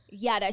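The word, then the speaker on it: Jutta: It's spelled Jada. But this Oh my god. I follow her on social media. I've never heard her name said out loud. Yada.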